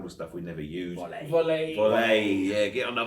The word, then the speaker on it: Vole: Yeah, but it's not. It's volley. On the French, volley. On the volley. It's Turkish actually. So, Turkish word for MOLE, how would you say mole?